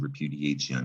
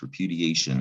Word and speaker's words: repudiation: It's a Latin spelling, T-I-O-N. We kept that same spelling in English, but it's not pronounced anything like it looks. We say repudiation or repudiation, depending on how you learn to pronounce that and where you live, maybe.